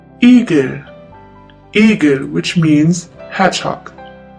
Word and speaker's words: Igel: In the longer version, it's pronounced like the E in the word easy. Easy. The German word with the letter E is Igel.